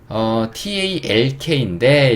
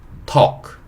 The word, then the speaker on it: talk: TALK인데 이건 좀 중요합니다. T는 T 소리죠. 그 다음에 여기서 A는 O 소리네요. 그리고 요 세 번째 L이 묵음이요. 묵음은 뭐다? 소리 내지 않는다. 없는 글자 취급하면 돼요. K는 Q. 그래서 요거는 세 글자 다 묶어봐야 어차피 얘가 묵음이기 때문에 두 글자로 토가 되고요. K는 Q. talk, talk 이렇게 되고 토크라는 거는 대화하다, 대화하다 라는 뜻을 가진 단어예요.